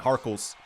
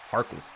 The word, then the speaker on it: Harkless: behind the back and harles harkless that's not how you say his name harkless finished in the